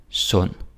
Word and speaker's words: sund: Så undskyld, underlig, rund, sund. And again. Undskyld, underlig, rund, sund. Okay? Yeah, you can do it. D is silent. Don't say undskyld and underlig, rund, sund.